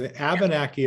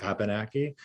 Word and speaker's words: Abenaki: Abenaki is how it would be said in English, and I often say Abenaki. In the language, there's a different rhythm, just like a song.